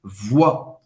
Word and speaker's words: voix: Voz em francês, voix. O I tem o som do wa, como se fosse O-A. Wa, wa. O X no final, você não vai pronunciar. Tu chantes de tout ton corps, de tout ton corps.